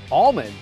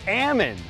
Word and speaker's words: almond: an almond orchard and they said almond no it's Amman so we need to say that correctly absolutely how do you